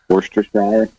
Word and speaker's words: Worcestershire: I want to hear about its pronunciation. Worcestershire.